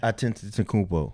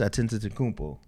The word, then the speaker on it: Antetokounmpo: Maybe you think his name is Giannis Antetokounmpo, right?